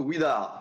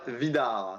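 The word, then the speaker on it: Widar: par les Belges, puisque le W se Yarno prononce OUE. Ouidar. Donc tu me feras le plaisir de ne plus dire Vidar.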